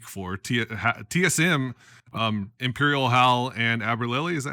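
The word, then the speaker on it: Albralelie: TSM, Imperial Hal and Aberlily, is that how you say his name? Aberlily, yep, Mac.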